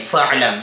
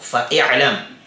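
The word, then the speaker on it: فاعلم: So, ang pagbigkas po natin ay fa'lam, hindi po fa'i'lam.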